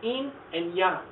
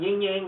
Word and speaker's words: yin yang: this one it's called in and young that's this little symbol over here notice i didn't call it yin yang that's kind of the english anglicization of this pronunciation in young something you're very probably